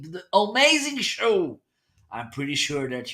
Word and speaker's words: Homeazin: It's pronounced Homeazin.